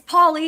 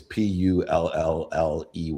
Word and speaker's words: Polly: Yeah, it's Polly. You were right the first time. Oh, see, my team gives me the wrong. I read it and then I look at their pronunciation and it's Pulley. I'm like, well, that's okay. I'll go with it.